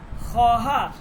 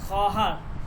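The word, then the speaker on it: خواهر: এটা মনে রাখবেন বাচ্চে বাচ্চে ঠিক আছে এরপরে খহার এইযে এটা খহার এখানে যে ওয়াওটা এটা লেখার মধ্যে আসবে কিন্তু উচ্চারণ হবে না খহার খহার মানে হচ্ছে বোন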